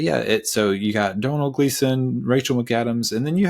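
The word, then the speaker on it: Domhnall Gleeson: look up a YouTube video of how to pronounce his name before uh hopping on and it is Donal gleon is that's how he says it anyways uh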